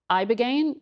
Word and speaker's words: ibogaine: Specifically, they were touting this one drug, ibogaine, I believe.